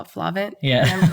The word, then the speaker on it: FLAVNT: And so my clothing line is called FLAVNT Streetwear. It's spelled FLAVNT Streetwear. The V is aesthetic, not phonetic.